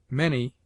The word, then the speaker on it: many: Many is pronounced as if it were written manny.